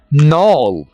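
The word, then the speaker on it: knoll: नॉल, यहां पर हम के को साइलेंट रखेंगे, नॉल पहाड़ी या गांठ।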